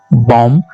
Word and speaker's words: bomb: हर वो वर्ड जो MB पर एंड होता है तो वहां आपने बी को साइलेंट करना है, जैसे COMB कॉम, BOMB बॉम, THUMB थम, थंब नहीं बोलेंगे आप, ओके।